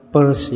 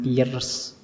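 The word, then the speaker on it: Peirce: ketiga Charles Sanders Pese ituembacanya persse ya jangan piarce ya kayak kalau kalian baca dompet p u r s e purse jadi lebih seperti itu membacanya Oke Eh ini ngaji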